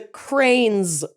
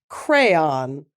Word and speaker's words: crayon: I've never heard the cranes pronunciation but I we always pronounced it crayon and a lot of people in the midwest say cran I say crams crayons